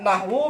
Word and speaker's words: نحو: Kenapa nahwu itu enggak boleh ditanwin? Nahwun gitu enggak ya. Walaupun gundul, antum kan bacanya nahwu. Lah, kenapa enggak ditanwin?